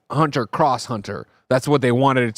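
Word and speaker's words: Hunter × Hunter: Mara writes in and says, Greg, it's pronounced Hunter by Hunter. Happy holidays. See y'all on KF Day. Mara, this is another classic one where you can't just make up pronunciations and definitions. Like, I've learned, of course, that it's not Hunter X Hunter, it's Hunter Cross Hunter.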